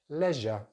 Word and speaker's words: leisure: Next word in British English, leisure, leisure, leisure. So stress on the first syllable, leisure, leisure. So we're using the short vowel sound in that first syllable.